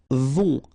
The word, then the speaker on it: vont: Then, ils vont. Final T not pronounced.